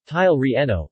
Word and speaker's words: chile relleno: the chile relleno spanish pronunciation tile reno literally stuffed chili is a dish in Mexican